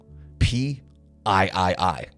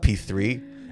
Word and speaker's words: PIII: Guys, this is the Ibenez 8540 P I I I. Okay, that's not P3. Anyone that pronounces it as P3 is doing it incorrectly.